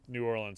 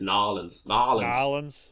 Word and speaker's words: New Orleans: in like New Orleans New Orleans seems like it'd be so you pronounced that wrong I'm sorry it's Nolans I think you can only say that if you're from Louisiana I know yeah but anywhere